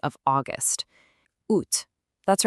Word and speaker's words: août: Now, what's really important on this side is the pronunciation of August. Août.